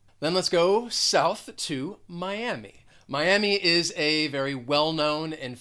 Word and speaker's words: Miami: with this is that it does have three syllables miami miami the stress is on that second syllable there are many spanish speakers who live in miami and spanish speakers may pronounce it as miami but most people throughout the united states will just say miami miami then let's go